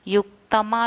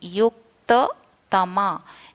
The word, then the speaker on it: युक्ततमा: ते में युक्ततमा मताः, युक्तमा नहीं, युक्ततमा, युक्ततमा, तो युक्त बोलेंगे, या में छोटा ऊ की मात्रा, फिर तमा, युक्ततमा मताः।